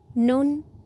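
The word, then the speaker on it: 눈: सुरु गरौ आजको भिडियो आइ आइलाई कोरियनमा नुन भनिन्छ र नेपाली अर्थ आँखा यसलाई नुन भनेर उच्चारण गरिन्छ।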